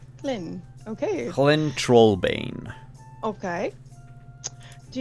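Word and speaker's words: Hlin: it however you want it's like lin with an h clin okay colin trollbane okay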